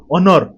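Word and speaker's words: honour: उच्चारण होतो मुसा कहबी देखंतु ऑनर बुझले ऑनर कोन एच रो लेखा होछि किंतु उच्चारण कोन कहउछि ओ बोली कहउछन्ती भावेल साउंड अछि सेति ता पूर्वरु आपण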